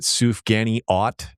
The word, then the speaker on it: sufganiyot: We already covered one, which is like literally my first food note was you pronounced it Sufganiyot.